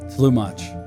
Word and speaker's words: Tlumach: Flu Mach. Flu like blue and much like watch.